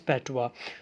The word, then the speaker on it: patois: अब ये जो PATOIS का वर्ड है that is pronounce as पैटवा।